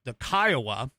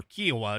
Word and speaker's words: Kiowa: But what's really impressive is to see them and their spotter, which is the Kiowa, or Kiowa, depending upon how you want to pronounce it, which is the little helicopter that that Sean, God, I can't think of her name.